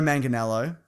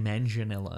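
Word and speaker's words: Manganiello: week Mason oh yeah Joe manganello that's how you pronounce it Mason he is Deathstroke I've been saying manganello well you're an idiot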